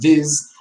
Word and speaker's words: this: is the pronunciation between this and these ok as you can see these are two different vowels right because this is a little shorter than these which is longer right and a little